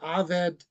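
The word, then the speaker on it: עבד: me Aid and again a comment on pronunciation evid is the word for Servant or slave the switch from evid to aved is a Hebrew oratorical form of verbal punctuation we know we've come to the end of a sentence or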